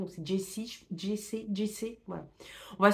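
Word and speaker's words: Jacy: va suivre on va Jess c'est Jess c'est j A C Y par que Jessie ça fait oui ça fait Jessie comme dans Stephen King donc c'est Jessie Jess Jess voilà on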